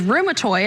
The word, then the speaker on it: rheumatoid: And then there's another common type of arthritis, which is rheumatoid. I'm pronouncing that correctly.